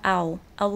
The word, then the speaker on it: I'll: É o som do I, normal, inteiro, com um L no final. Então fica I'll leave now.